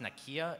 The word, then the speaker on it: Nakia: more for Nakia wait is your name pronounced Nakia is that am I pronouncing that okay thank you I feel like an idiot for asking you that it's n I'm kidding you said it right yes uh but for